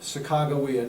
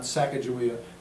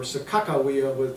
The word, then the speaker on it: Sacagawea: And so you see it's done in many different ways, but today we call it Sacagawea, not Sacagawea, as I was growing up with, or Sakakawea, that's used in North Dakota.